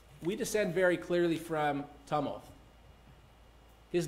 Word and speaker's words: Tumulth: My clients, in the face of disenrollment, said, we descend very clearly from Tumulth.